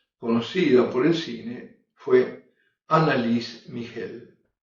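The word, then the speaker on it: Anneliese Michel: por el cine fue análisis migel luego Así se pronuncia alemán en el fin se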